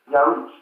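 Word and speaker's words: ירח: Pronunciation, Yaruch.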